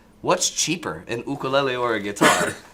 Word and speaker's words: ukulele: box uh ukuleles and I noticed how you pronounce it by the way ukulele as opposed to you know the white man do you ever get